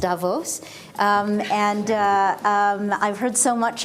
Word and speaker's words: Davos: my first trip to Davos I've understood it's pronounced Davos and I've heard so much about this and